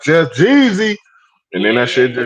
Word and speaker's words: Geezy: I was it's like, Jeezy damn, man it's Jeezy and it's spelt like this G with two yeah, E's.